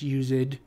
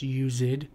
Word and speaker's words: used: so the use right just pronouncing this as a two- syllable word and then the Ze